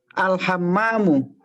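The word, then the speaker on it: الحمام: Kok al-himam? Hammamu. Ulang. Al-hammamu. Nah, Masya Allah.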